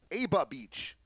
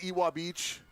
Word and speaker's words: Ewa Beach: the right direction to start this game off eba beach eba beach okay i got you you pronounce it e bob beach there you go